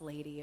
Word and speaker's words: LVDY: heck is LBD Y and why is it pronounced lady and why is it not Livy and does